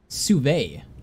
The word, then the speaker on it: sous-vide: Sous-vide is how it's pronounced.